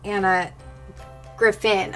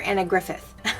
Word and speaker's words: Griffin: name wrong last time I think it's Anna Griffin I called her Anna Griffith sorry guys Anna Griffin